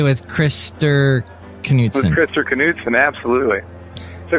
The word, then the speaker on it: Knutson: Knutson. Yeah, you can pronounce the K.